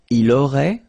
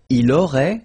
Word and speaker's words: aurait: Il aurait, same thing here. Final T is not pronounced.